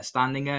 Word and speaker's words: Standinger: uh standing there.